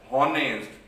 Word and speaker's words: honest: We are not saying the honest. We are not saying the honor, but the word is honor. Here are, here honest. We are not saying that honest, right? So here H is a silent.